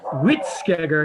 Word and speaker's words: Hvítskeggr: English from Old Norse it's like wheat it's like saying wheat then everybody see that Family Guy episode where Stewie is saying Krispy Kremes cool oh good this is how you say it yeah it's quick wit scare yeah you see that